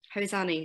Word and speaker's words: Hosanee: Is it Hosanee? Hosanee. Say it as you say Hosanee. It, phonetic. Hosanee.